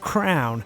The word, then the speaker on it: Krwn: And also for all you cool fellas out there, check out the company which Mickey is working for called Crown, which is spelt KRWN, for some super slick male grooming products.